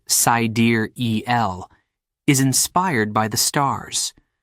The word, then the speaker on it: Siderell: Sidereal, pronounced Sidereal, is inspired by the stars, a deep space measurement of time.